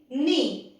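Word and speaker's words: know: जब कभी भी M के पहले K आए किसी भी वर्ड में तो K साइलेंट हो जाएगा। Just like in नी, KNEE, that is नी। इसमें हम इसे कनी नहीं कहते हैं, हम इसे नी बोलते हैं।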